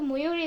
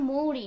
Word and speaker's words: মৌরি: ভাইয়া আমার নাম তো ময়ূরী না এই যে দেখছেন এখনই গুলা ফেলছেন আমার নাম মৌরি ময়ূরি না আমার এজন্য